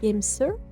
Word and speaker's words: GameSir: Je crois que c'est Gamester. C'est G A M E S I R. Pronce un peu à l'anglaise, voyez. Euh, et du coup, c'est le modèle G7 Pro Wireless.